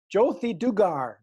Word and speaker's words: Jothi Dugar: got a guest on and her name is Josie do gar did I pronounce it right that is absolutely perfect okay